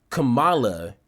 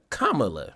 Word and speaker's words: Kamala: of confused on like why are they purposely mispronouncing her name um as Kamala instead of Kamala like it's it's a